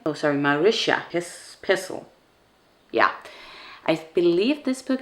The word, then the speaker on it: Marisha Pessl: And then the next word was leave, and I chose the book Neverworld Wake by Marisha Pessl. Is that how you say her name? Oh, sorry, Marisha Pessl.